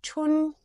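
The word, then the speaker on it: 春: have four different tones you're supposed to pronounce it like you're singing it at a slightly higher note than you usually speak tun translates into spring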